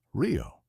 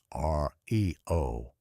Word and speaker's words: REO: in the 21st century, the pronunciation describing the cars of this time is like the city in Brazil, Rio, not R E O.